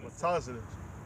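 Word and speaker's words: מצח: Matazah. The word pronounced is matazah.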